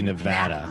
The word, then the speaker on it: Nevada: think cough was getting called out for saying nevada a certain way yeah it's supposed to be nevada nevada yeah and then so we were saying